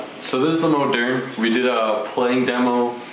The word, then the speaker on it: Moderne: So this is the Gibson Moderne. Yeah, that's how you say it, the Moderne. Not the Modern, the Moderne.